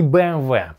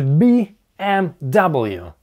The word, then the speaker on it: BMW: BMW — это по-русски, но по-английски это не "BMV". Ну, смотрите , это же BMW. BMW. Почему именно BMW? Некоторые даже говорят "BMV". Ну, буквы V там нет, это буква W. Поэтому мы произносим это как BMW.